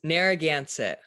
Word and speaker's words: Narragansett: Today I'm going to be talking to Sherenté Harris, who's a two-spirit genderqueer teenager from the Narragansett tribe. Am I pronouncing that right, Sherenté? Very close, yes. Narragansett.